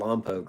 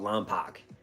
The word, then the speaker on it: Lompoc: Where I live in this place called Lompoc, right? And no one can pronounce it. They always call it Lompoc.